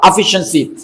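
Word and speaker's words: efficiency: यहां पर इसका साउंड क्या है? श है श एफिशिएंसी। सी आई ए के बाद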